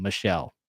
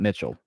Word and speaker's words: Michelle: By the way, that is how you say my last name, Michelle. It is not Mitchell.